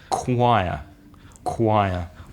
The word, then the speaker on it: choir: what you read which looks like sure you pronunciation in English is choir choir my favorite one of all you know how